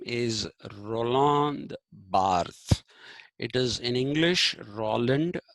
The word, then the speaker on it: Roland Barthes: And another myth uh, writer about myths, his name is Roland Barthes. It is in English, Roland, R-O-L-A-N-D, B-A-R-T-H-E-S, Barthes, but he's a Frenchman, and it's pronounced Roland Barthes.